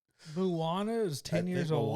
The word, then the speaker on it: Moana: is 10 years old Moana came out and like okay that's might be an exaggeration I think am I saying it wrong Moana Moana there's no mo like yeah it's Mo Moana Moana Moana yeah Moana